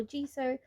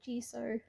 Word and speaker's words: gesso: down base coats of gesso or jiso about how i'm not sure how everyone else pronounces it but i've heard mariah elizabeth call it gesso pastel calls it g so i mean to me gesso just sounds right but it's a personal opinion it's not a certainty